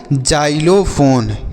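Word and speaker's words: xylophone: जाइलोफोन ठीक है बच्चों तो एक्स का उच्चारण यहां पर भी ज के रूप में करेंगे तो ये लिखा गया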